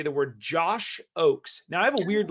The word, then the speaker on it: Ochs: say the word josh oakes now i have a weird last name so it's german it's kind of weird it's pronounced o-a-k-s even though it's spelled o-c-h-s if i click this